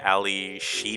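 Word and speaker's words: Ally Sheedy: Mm, You had how do you pronounce her name? It's Ali Sheedy.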